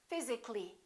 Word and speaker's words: physically: Physically, not physically.